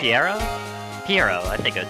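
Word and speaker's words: Pierrot: Perot? Yeah. Perot. Okay. Piero. I think it's the one because you don't Alright.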